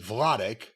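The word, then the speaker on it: Wladek: Vladic Kowalsski, if that is indeed how you pronounce it. Vladic.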